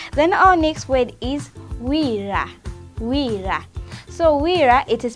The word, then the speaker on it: wira: Then our next word is wira. Wira. So wira, it is spelled as W-I-R-A.